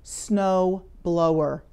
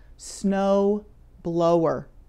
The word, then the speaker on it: snow blower: Notice the spelling and pronunciation of that word, snow blower. It has OW twice, and both times that OW is pronounced like the long O, snow blower.